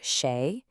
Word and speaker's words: 誰: Da, which is pronounced sheay, is an interrogative pronoun.